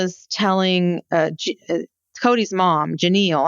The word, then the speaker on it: Janelle: So, they all arrive at the ranch and um and Janelle is telling uh Cody's mom, Janal, I don't know how her name is pronounced exactly. It's Janal. Janal is um telling a story about how she and Wyn were both raised in Levelvel.